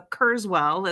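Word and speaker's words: Kurzweil: So Kurszswwell is how we pronounce it.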